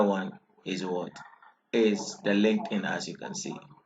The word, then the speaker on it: LinkedIn: written there could you pronounce it great it's linked in the pronunciation is linked in yes so this is its logo or its